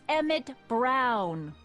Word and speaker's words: Emmett: That's Emmett Brown. Rhymes with clown, which I'm beginning to think you are.